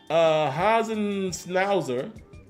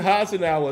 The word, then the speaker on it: Hasenauer: But he says Hasenschnauzer at left guard. Wow. That's not how you JC Hasenauer is who I think you're trying to say. That ain't how you say his name, but I got you.